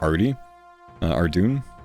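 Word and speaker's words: Ardougne: This is north of Arty Ardun or or Ardo if you're pronouncing it correctly.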